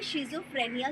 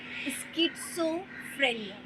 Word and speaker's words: schizophrenia: लोग उसे शिज़ोफ्रेनिया कहते हैं, जबकि उसका करेक्ट प्रोनाउंसिएशन होता है स्किज़ोफ्रेनिया।